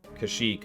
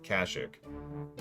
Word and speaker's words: Kashyyyk: what's funny is i've heard several pronunciations of kashyyyk or kashik those are the two big ones i tend to hear most often but yeah kazuk that's another one captain take a look at